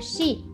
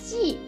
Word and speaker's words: 系: The third meaning of xi, for example, 联系 means contact.